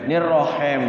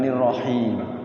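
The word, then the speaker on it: الرحيم: Kalau kendor itu cenderungnya Bismillahirrahmanirrahim. Nirrohem jadinya, bukan nirrohim.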